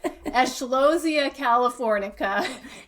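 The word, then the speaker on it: Eschscholzia californica: It's Eschlosia californica. Yes. Oh my heavens! Like I wouldn't want to have to spell that in the spelling bee.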